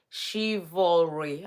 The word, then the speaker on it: chivalry: happened to is it chivalry I want to pronounce it right let me see how Google pronunciation okay shivalry okay I'm I'm doing well chivalry so do you think